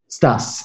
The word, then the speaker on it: Stas: Stas, S-T-A-S.